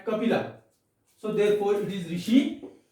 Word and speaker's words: Kapila: In Sanskrit, it is pronounced as Kapila.